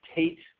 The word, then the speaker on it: Tayt: Just email me at Tate, and it's spelled a little differently.